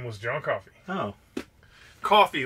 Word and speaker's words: Coffey: Coffee, like the drink, but not spelled the same.